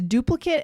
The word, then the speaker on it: duplicate: The next one is duplicate and duplicate. Tell us about this. Yeah, so the noun form duplicate. So it's spelled ATE, but it's pronounced that short way, right? It.